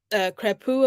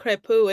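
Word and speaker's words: Crépeau: debuts, actually, like Escobar, Crepu, of course, and forgive me if I'm mispronouncing his name. I feel like I am in a sense, but I think Crepu is the correct pronunciation.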